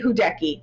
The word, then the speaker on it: Hudecki: I'm so happy that I got this person today, Hudecki. Did I say it right? Yeah. Hi. Hudecki.